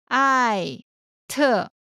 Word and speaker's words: @: karen Next is the @ sign, usually pronounced as 艾特 Next is Inolang.